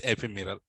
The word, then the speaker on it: ephemeral: Pronounce it properly. What is that? Ephiral. Uh m silent. Okay. Empirral. It is ephemeral.